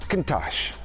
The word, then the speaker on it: Countach: Countach.